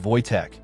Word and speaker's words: Wojtek: They named him Wojtek, pronounced Wojtek, derived from Wojtek, meaning joyous warrior.